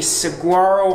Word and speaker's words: Saguaro: the Saguaro Hall dorm I know that's not how it's pronounced but that's how I pronounce so they say it's pronounced like the gia styling swara or something like that but how I see it it looks like squirrel so that's how I'm